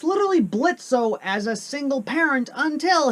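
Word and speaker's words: Blitzø: Well, it begins with Blitzo, or Blitz if we want to go with the O is silent, coming home from work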